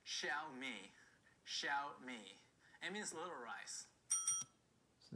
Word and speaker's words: Xiaomi: that's pronounced apparently the correct pronunciation is it's pronounced xiaomi xiao me it means little rice so there we go